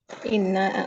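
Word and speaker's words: إنّا: Inna atau inna itu. Kalau inna atau inna itu bukan cara ya, Ustaz? bacanya panjang. Inna.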